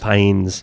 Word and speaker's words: Fiennes: I think it's Fines. Fines. Is how That's it's what I said. pronounced. Fines. It looks like Fiennes.